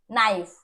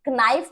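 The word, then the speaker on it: knife: Common है यहाँ पे, के इज साइलेंट हियर, के का साउंड नहीं आ रहा, आप इसे कनी नहीं बोलेंगे, कनाइफ नहीं बोलेंगे, कनॉट नहीं बोलेंगे, या कनो नहीं बोलेंगे, ठीक है, क्या बोलेंगे, नी, नाइफ, नॉट एंड नो, ठीक है, तो के साइलेंट हो गया।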